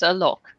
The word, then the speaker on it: Alok: It's Alok.